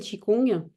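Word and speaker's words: qigong: vraiment ce qu'est le chikong déjà chi ça s'écrit QI c'est le souffle l'énergie et Kong qui s'écrit Gong c'est le mouvement la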